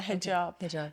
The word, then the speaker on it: hijab: is that how you say it like yeah hijab so yeah and then when I went to